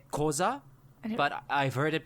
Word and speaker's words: Xhosa: with an x-h-o-s-a so usually that's combined with the clicking like some people would say koza but i've heard it pronounced as wasa it sounds so awesome